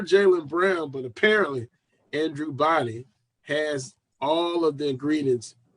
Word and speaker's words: Body: Andrew, how you pronounce the last name? Body.